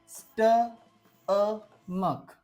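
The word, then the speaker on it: stomach: उच्चार च झालेला होता बट आजच्या या स्टमकमध्ये या सी एच चा उच्चार काय आहे क आहे कालच्या स्पेलिंग मध्ये काय होता च होता बट आजच्या स्पेलिंग मध्ये याचा उच्चार काय आहे क असा आहे लक्षात ठेवा ओके स्टॅंडर्ड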